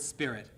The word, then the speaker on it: spirit: coherence, is the word spirit, which, as it is about half the time in Shakespearean verse, is here a monosyllable. That monosyllable appears to have been pronounced like the word sprit.